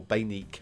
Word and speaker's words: Baneque: Random5 has actually informed me how to pronounce that because I think I was going to go with Baneque or Baneque maybe.